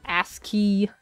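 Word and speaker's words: ASCII: up the communication line is that how you pronounce that I always just read it as as c i i not ask key Troublesome do as you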